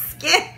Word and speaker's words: Skyn: um skye n and i had to like google how to say this sky and skip skin and it's my skin i don't think siri knew what they were talking about it's skin s-k-y-n from iceland i